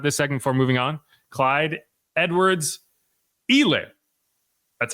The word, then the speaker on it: Clyde Edwards-Helaire: So the last thing we'll talk about this segment before moving on, Clyde Edwards-Helaire.